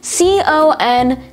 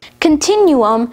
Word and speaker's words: continuum: today's word of the day is continuum spelled c-o-n-t-i-n-u-u-m continuum continuum has one alternate pronunciation continuum continuum is a noun that derives